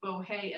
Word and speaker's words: bohea: And the fact that tea rhymes with bohea as tea shows that people said, have a cup of tea, just the way the Irish do now.